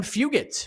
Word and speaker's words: Fugitt: yeah credit to adam fugitt for jumping on this opportunity with uh short notice adam hard g fugit is his nickname his name should be hard g like this is like